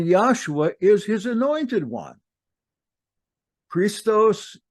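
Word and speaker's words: Χριστός: Christos is correctly pronounced just as I did, Christos, in its original language.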